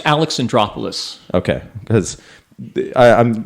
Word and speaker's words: Alexandropoulos: guidebook a fellow named Gus how do you pronounce your last name Gus last names Alex and drop Alice okay because I'm like once I'm beyond three